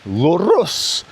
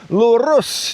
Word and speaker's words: lurus: And one of the words is lurus. Lurus. You don't have to roll your R like I just did. You can even say lurus.